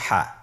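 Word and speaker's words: ح: আমরা যেটা শিখবো সেটা হল হা এর মধ্যে কোন নুক্তা আমরা দেখতে পাচ্ছি না হাফটি কিভাবে উচ্চারিত হবে হাফটি উচ্চারিত হবে কন্ঠনালী মধ্যখান হতে গলা চিপে ধরে আপনি উচ্চারণ করুন আপনার আমার সাথে বলুন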